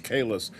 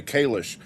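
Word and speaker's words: Kahless: Stan's question here about Holly Hunter teaching people how to pronounce Kalis because they say Kalish.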